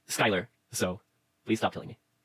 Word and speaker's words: Skylar: Oh, and I know it's pronounced Skylar, so please stop killing me.